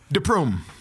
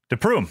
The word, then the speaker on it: de Prume: Today, we have, I'm going to probably pronounce this wrong, Ivan De Prume? De Prume. De Prume.